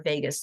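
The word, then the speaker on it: vagus: nerve does in it Vegas nerve is spelled it's like Vegas Las Vegas but it's Vegas v a so it regulates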